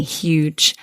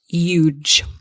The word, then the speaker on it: huge: Huge. The thing to watch out for here is that we must pronounce the H. So huge, not huge.